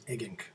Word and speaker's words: Eggink: Brand new from Peter Eggink. Is that how you say his name? Eggink? So far as I know, it is Eggink.